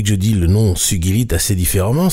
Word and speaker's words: sugilite: Cela vient justement de ce nom de sogi qui se prononce avec un gu dur comme dans guide ce que l'usage courant tend souvent à oublier puisque beaucoup de gens disent sugilite.